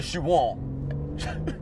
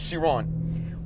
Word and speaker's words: Chiron: actually the one about Bugatti the shiron the Shian that was awfully pronounced by the way even though I tried shiron shiron all right the Chiron what a car forget about that I just